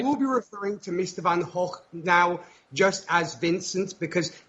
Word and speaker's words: van Gogh: And therefore, from what I've learned, and she repeated it me till I was blue in the face, the correct pronunciation is apparently Vincent van Gogh.